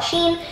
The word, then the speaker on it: Shein: I mean, nobody really knows how to pronounce it. I call it Shein.